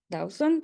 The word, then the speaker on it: Dawson: Y bueno, Dawson, sí, así se pronuncia tu segundo apellido.